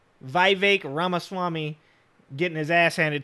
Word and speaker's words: Vivek: redox boy right here Vivek it rhymes with cake Vivek ramaswamy getting his ass